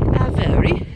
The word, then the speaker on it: Avebury: Avebury. That's how they say it. They say it with like the English accent of Avebury.